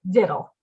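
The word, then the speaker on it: victuals: my elder children that the word is actually spelled v-i-c-t-e but we pronounce it diddle i somehow miraculously make it through two more pages before the four-year-old begins thinking about vittles and decides she's ravenously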